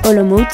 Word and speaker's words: Olomouc: la ville c'est que olomouc se prononce en réalité à l'oms par les tchèques elle regroupe cent mille